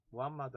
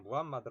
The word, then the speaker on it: 무함마드: 매트 라고 거기에 뭐 발음 차이 입니다 영어 발음을 하냐 아닌 현지 발음을 하냐 뭐 이러한 차이인데 마호메트 라고 해도 맞고 무함마드 라 해도 말씀 맞는 말입니다 34 우리 교과서에 뭐 한 마디 라고 나와 있으니까 우리는 무함마드 라고 부릅시다 자외 서울이 무함마드가 유일신